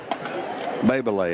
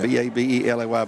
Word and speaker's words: Babelay: That's going to be Cohen Babelay. I think that's how it's pronounced. B-A-B-E-L-A-Y, Babelay.